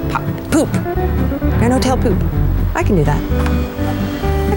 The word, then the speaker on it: Pupp: the grand hotel p-u-p-p which to me says pop but actually it's pronounced poop in chuck which is